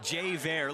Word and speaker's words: Javier: Pronounces it Javier.